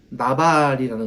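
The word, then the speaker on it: נבל: 어리석은 자라는 말은 어 히브리어 원어 발음으로 말하면 나발이라는 겁니다.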